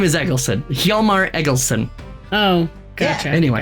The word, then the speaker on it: Hjalmar: Hjalmar, Hjalm, like Mike, ARR.